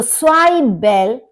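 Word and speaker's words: Zwiebel: ज्वाइबेल, स्वाइबेल onion, प्याज। अब यहां पर आप देखेंगे WIE, IE का मतलब ई होता है और Z का मतलब S, तो स्वाइबेल ओनियन यानी कि प्याज।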